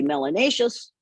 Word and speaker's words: melanatious: more you must be melanatious which rhymes with spacious and gracious and efficacious and if you have